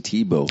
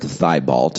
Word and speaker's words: Thibault: how is it spelled it's spelled uh t h i b it looks like thy bolt it's a french canadian okay that was our